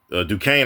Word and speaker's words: Duquesne: But Duquesne, I think it's Duquesne. I think that's how they pronounce it.